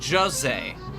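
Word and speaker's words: José: looked up hose and what it would be pronounced as in Portuguese and it's pronounced Jose and him and the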